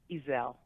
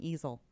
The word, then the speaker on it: Ezell: How do you say your last name? Ezell. Ezell. Gotcha. Ezell. All right. I'm saying it like a thing you put a painting on, easel.